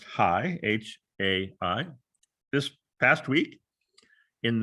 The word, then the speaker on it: HAI: This is the reason why the Stanford Human-Centered Artificial Intelligence Group, pronounced HAI, H-A-I, this past week in their spring annual festival, opened up with an extensive discussion about attempting to program ethics into algorithms.